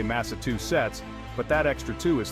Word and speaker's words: Massachusetts: gets Tangled Up In Tongues we're talking about Massachusetts now some folks might try to simplify things and say Massachusetts but that extra two is throwing off the